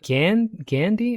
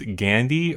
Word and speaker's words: Gandhi: There are two different pronunciations I found in the movie. It's Gandhi or Gandhi. It just does seem to get pronounced both ways.